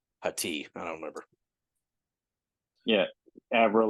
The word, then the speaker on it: Hati: yeah, Her last name is, well, it's spelled Haiti, but it's Hati.